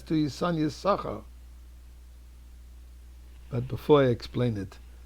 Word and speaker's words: Issachar: You don't pronounce Issachar, you pronounce Issachar, because one of the sheens belonged to Zevulun.